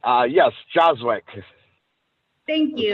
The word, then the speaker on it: Joswiak: Yes, Joswick Thank is you. how you pronounce it.